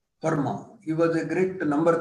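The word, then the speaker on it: Fermat: in physics and Mathematics often physicists pronounce name as format but he silent there being a French name Perma he was a great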